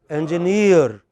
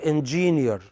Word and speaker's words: engineer: The correct pronunciation is engineer, not engineer.